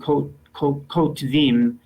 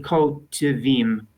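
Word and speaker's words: כותבים: I tried to say kotvim, but correct. In modern pronunciation, in normal everyday speech, it would sound like kotvim, which sounds more like 2 syllables.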